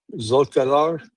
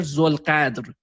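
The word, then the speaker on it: Zolghadr: So Mohammed is it Mohammed Bakr Zolqadar? Yeah, no, Muhammad Baqir Zulqadr. Zolqadr. Okay, I'll work. Zulqadr. Yeah, it's difficult for you to Zulqadr. pronounce that. It's Zulqadr.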